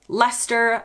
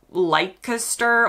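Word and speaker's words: Leicester: including Westminster not Westminister Lester not leer or however Americans say it it's gler like Gloucester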